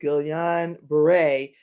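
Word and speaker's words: Guillain-Barré: gillian brewer and i was listening to the pronunciation is that gillian beret syndrome is and it says that gillian beret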